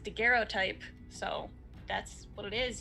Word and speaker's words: daguerreotype: i did go check with the internet it's pronounced daguerreotype so that's what it is y'all um it